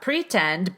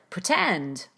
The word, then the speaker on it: pretend: So not pretend, but pretend.